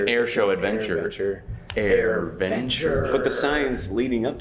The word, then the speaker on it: AirVenture: Airventure. Airventure. It's not an adventure. An air show adventure. Airventure.